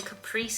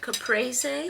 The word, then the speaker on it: caprese: I made a lovely little Caprice salad. Caprese. Capriy. Feel free to have a field day correcting how I pronounce things in the comments down below.